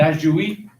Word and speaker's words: ajuí: Está diciendo el ayuí, por ejemplo, que se escribe ajuí, ¿no es cierto?